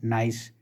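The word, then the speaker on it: gneiss: अगर जीनेसिस की हम बात करें, pronounced नाइस इज़ the highest grade of regional metamorphic rock होती है।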